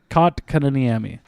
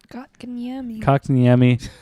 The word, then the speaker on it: Kotkaniemi: Kotkaniemi. Kotkaniemi. Just break it into syllables.